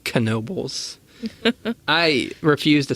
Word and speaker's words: Knoebels: where in Pennsylvania we are and yes it's pronounced Knoebels I refuse to say that for a while